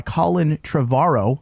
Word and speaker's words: Colin Trevorrow: after the original movie it is directed by Colin tavaro I believe that's how you say his name